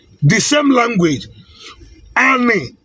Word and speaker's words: ani: say the same language ani is pronounced as a n i by spelling an. In other dialect is pronounced as a l i. And in other dialect is pronounced as a l a. In other it is pronounced as a n a an.